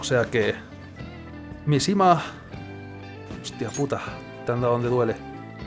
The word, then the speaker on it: Mishima: arreglando y más importante mi nombre no es ni sima no me había dado cuenta eso es todo lo que me estaba fijando en ti mishima que ha pronunciado tu nombre mal a